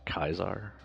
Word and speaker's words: Caesar: Not the one from Fallout New Vegas, where they, for some reason, pronounced it Kaiser.